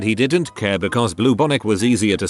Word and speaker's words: bubonic: I privately alerted him to the fact he was saying bubonic plague as bluebonic plague.